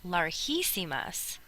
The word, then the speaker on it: larguísimas: But if you just have G and then I, that's pronounced larguísimas. And this is the irregular that we talked about, having to add the U to make it larguísimas.